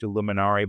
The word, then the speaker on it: illuminare: Italian citizen, and the word illuminaire, it's actually pronounced illuminare, but when I say that, people think I'm part of a secret Vatican society. But illuminare in Italian literally means to shed light.